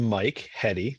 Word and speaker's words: Michael Heady: I'm MichaelHeady. That's how you pronounce my last name.